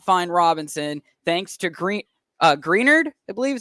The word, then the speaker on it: Greenard: It could be Greenard, but as far as I've heard and as far as I know, it's Grenard. Like Menards, but just green.